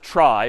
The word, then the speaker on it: trie: a fancier tree and it's short for retrieval but pronounced try for weird historical reasons but a try is